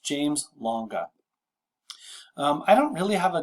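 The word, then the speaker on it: James-Lange: take the other two this one is pronounced james longa i don't really have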